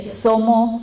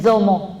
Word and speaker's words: zomo: de Aluminé, por ejemplo, el sonido que es Z, el sonido de la Z que pronuncian algunos, lo transforman en D. Entonces, por ejemplo, la palabra mujer, que se dice zomo en la mayor parte de donde están los mapuches, algunos le dicen domo en algunas zonas de